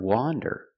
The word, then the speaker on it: wander: one one wonder wonder the word wander with the open Sound a wander is a